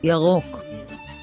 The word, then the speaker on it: ירוק: So, we have a ya, an R, an O, and a K. That's why we say, ירוק, ירוק, Now, let's review the letters.